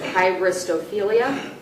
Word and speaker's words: hybristophilia: I'll try to pronounce it. Hybristophilia, That's correct.